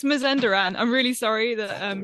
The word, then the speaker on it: Mazandaran: one place to another um yes it is pronounced mazanderan but anything goes don't worry too much about